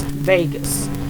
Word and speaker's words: vagus: as in Gus, U-S, Vegas. Pronounced like you'd say Las Vegas, but spelled different, V-A-G-U-S.